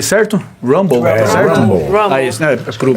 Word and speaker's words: Rumble: Pronunciei certo? Rumble, certo? Rumble.